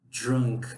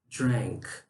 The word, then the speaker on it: drank: Vocês não vão falar drunk aqui, tá? A gente fala com som de E. Drank, drank, tá?